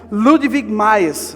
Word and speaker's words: Ludwig Mies: Tem um arquiteto alemão que foi considerado um dos principais nomes da arquitetura do século XX, chama Ludwig Mies, acho que é assim que se pronuncia o nome dele.